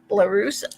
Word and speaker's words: Larusso: I never can pronounce Patrick's last name, but he Sajak? is. No, Pat Sajak? no. It's Larusso. I always want to say Larusso because I think of Karate Kid, but he is a